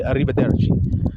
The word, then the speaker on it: arrivederci: Like, for instance, to say goodbye in Italian, you say arrivederci. Arrivederci. When you say this, you see how I'm rolling the R's and pronouncing it the way an Italian person would?